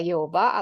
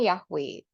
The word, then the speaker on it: Yehova: e o i gitu jadi eh lafalnya adalah pengucapannya adalah Yehova atau yehuwi dan bukan yahwe nah kemudian kita lihat